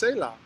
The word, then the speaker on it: Selah: and it's and and they say it's saah yeah it's yeah I pronounce it Salah I think it just flows a lot better you know but people